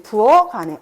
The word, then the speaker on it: 부엌 안에: 실질 형태소가 오는 경우에는요, 대표음으로 바꿔요. 즉, 이 다음에 모음이 오는 경우에 실질 형태소가 왔을 때, 그때 음절의 끝소리 규칙이 이루어지고, 그리고 나서 연음이 이루어진다. 그럼 어떻게 발음해야 돼? 그렇지, 부어간에. 엄마, 나 부어간에 있어. 이렇게 발음해야 되는 거야.